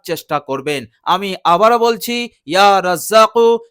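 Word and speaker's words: يا رزّاق: আমি আবারও বলছি ইয়া রাজ্জাকু, শেষে কফ আছে, আর এই কফ জিবের গোড়া থেকে উচ্চারণ হয় ইয়া রাজ্জাকু, ইয়া রাজ্জাকু।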